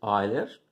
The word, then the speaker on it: Euler: Dentro dos poliedros, nós estudamos a relação de Euler, está escrito Euler, né? Se escreve assim, mas pronuncia-se Euler.